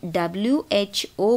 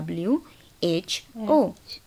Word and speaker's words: WHO: बोलते हैं ना, यस, बट जब हम WHO बोलते हैं तो कोई अलग साउंड तो नहीं है, हर अल्फ़ाबेट को अलग अलग बोल रहे हैं ना, WHO बोल रहे हैं।